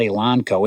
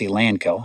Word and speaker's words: Elanco: tell you something first it's not elonco it's a lanco I got the company